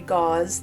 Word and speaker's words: Gause: Um, and I will be pronouncing it gauze as long as I remember to.